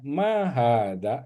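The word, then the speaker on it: ما هذا: Ma hadza ini panjang semua ya. Makanya panjang, ha-nya panjang, dya panjang. Ma hadza itu artinya bertanya apa ini gitu ya.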